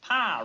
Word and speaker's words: Pyle: Pyle rhymes with file. Makes it easy to remember.